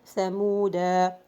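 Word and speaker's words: ثمودا: so in this case, this alif is not pronounced at all. I mean, while stopping, while connecting, in all cases, you are not gonna pronounce this alif if you find the circle zero at the top of this alif.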